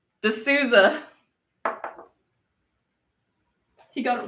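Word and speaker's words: de Sousa: name for some reason you're really good at pronouncing people's names d e space s-o-u-s-a-space yeah no apparently i said it right de souza he got it wrong by the way all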